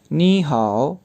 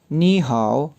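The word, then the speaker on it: 你好: जब इनको इकट्ठा प्रोनाउंस किया जाएगा तो यूँ प्रोनाउंस किया जाएगा नी हाओ। नी हाओ।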